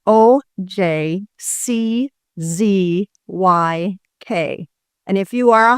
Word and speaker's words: Ojczyk: a Polish background, and in Polish, the J is a Y pronunciation. So in Poland, it's Ojczyk.